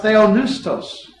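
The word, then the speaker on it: θεόπνευστος: The Greek word is pronounced theonoustos, and it simply means "God breathed."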